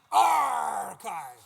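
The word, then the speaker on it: arXiv: It's pronounced archive.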